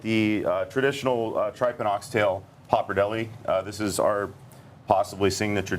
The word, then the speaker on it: pappardelle: and then highlight the traditional tripe and oxtail pappardelle. This is our possibly signature dish. It's the only thing that never leaves the menu. Pappardelle.